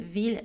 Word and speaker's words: villes: Mille villes tranquilles et à leur dérivée prononcée avec la consonne L.